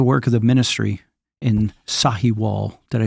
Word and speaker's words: Sahiwal: And for the work of the ministry in Sahiwal. Did I say it right? Yep. Yes. Yeah, Sahiwal.